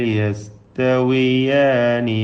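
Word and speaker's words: يستويان: അപ്പോൾ സലമൻ ലിറജുലിൻ ഹൽ യസ്തവിയാനി മസല, ഹൽ യസ്തവിയാനി. വി എന്ന വാവിൻ്റെ ഉച്ചാരണം 2 ചുണ്ടിൽ നിന്ന് തന്നെ വരണം.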